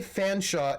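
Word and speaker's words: Featherstonehaugh: Chumley Fanshawe is spelled Cholmondeley Featherstonehaw. Because British aristocrats, to be quite honest.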